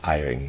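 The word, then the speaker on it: Ihering: I'm not sure how you pronounce his name. It's I-H-E-R-I-N-G. I said Ehring the first time.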